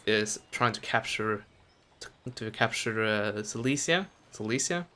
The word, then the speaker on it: Silesia: Silesia? Yeah, that's how you pronounce it.